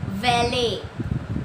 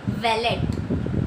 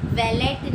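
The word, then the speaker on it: valet: अब यहाँ पे आप उस इसको साइलेंट लेटर में भी गिन सकते हैं, पर लोग क्या इसको प्रोनाउंस करते हैं? वैलेट, वैलेट नहीं है। इसका प्रोनाउंसिएशन सही से क्या है? वैले, वैले।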